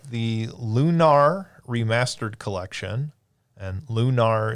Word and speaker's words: Lunar: lunar remastered collection and lunar is apparently the correct way to pronounce it not lunar um um so lunar